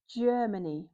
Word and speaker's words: Germany: This is the country Germany with a j sound because the g is followed by e. So, it's Germany.